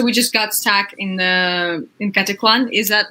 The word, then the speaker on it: Caticlan: So we just got stuck in Caticlan. Is that right? How I pronounce it? Yeah, Katikluan near We Boracay.